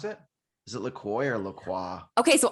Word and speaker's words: LaCroix: Is it LaCroix or LaCroix? Okay, so I think it's LaCroix because when you go to their website, it's supposed to rhyme with enjoy.